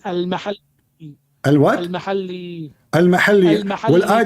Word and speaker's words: al-Mahalli: Jalaluddin al-Muhalla wa Jalaluddin al-Suyuti. So wrong. It is not al-muhalla. What it You is? don't understand. What it is? It is al-mahalli.